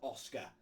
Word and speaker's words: Óscar: pronunciation by the way the accent on the earth means it means you emphasize that so it's not it's not Oscar it's OS it's Oscar um and then Zambrano is